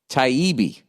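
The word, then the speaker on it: Taibbi: tabi's book hate inc uh produced pronounced taibi okay t-i-e-e-b-e-e you didn't capitalize any of it so i don't know where to stress um it's all about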